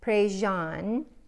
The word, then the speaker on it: Prejean: The correct pronunciation is Katie Prejean McGrady.